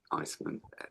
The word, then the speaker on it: Eisman: If you just key in Gary Marcus and Iceman. Iceman is spelled EISMAN.